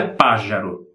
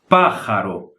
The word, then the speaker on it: pájaro: A J aqui na Espanha se pronuncia como se fosse a R forte do Brasil. A R do princípio das palavras ou a dupla R no meio das palavras, tá? Então, essa palavra se pronuncia pájaro, como se fosse uma R forte.